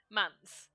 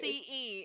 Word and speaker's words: Mance: Mance. Mance. Never gonna get it right. Mance. It is a very short, easy name. Think dance, but with an M.